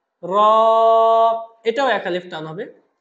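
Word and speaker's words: راء: র হরফটা খুবই সিম্পল। জিহ্বাটা উপরের তালুর সাথে লাগবে। র। র।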